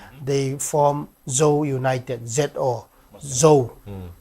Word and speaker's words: Zo: At that time, under the leadership of the Mizoram Coordinating Committee of all NGOs, they form Zo United, Z-O, Zo. It is pronounced as Zo.